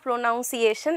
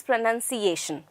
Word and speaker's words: pronunciation: i'll be telling you it's not pronunciation it is pronunciation fine so not to write